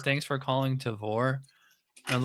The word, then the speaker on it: Tavour: I always pronounce it Tavor, but it probably is because like I think it would be like rhyme with flavor, so it probably is Tavor.